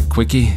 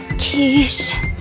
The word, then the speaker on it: quiche: the mood for a quickie tifa huh excuse me yeah zach and eric tried baking some for my birthday oh you're kind of burned but no cloud it's pronounced quiche oh cloud